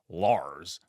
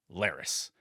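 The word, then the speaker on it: Larys: that I misspoke and the proper pronunciation on this character's name is not Lars but rather Lis and there's nothing I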